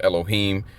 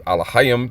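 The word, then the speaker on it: אֱלֹהִים: Okay, the the false pronunciation is Elohim, but it's actually alohim. There are no E's or O's in the ancient PaleoHebrew.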